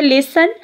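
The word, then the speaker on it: listen: लिसन में देखें, एल ल ई स ए हम. इसमें देखें, मैंने टी की जो ट साउंड है वो प्रोनाउंस नहीं क्यों की, क्योंकि प्रोनाउंसिएशन में while pronouncing this word we don't pronounce the letter we don't pronounce the sound of letter T so here T is silent.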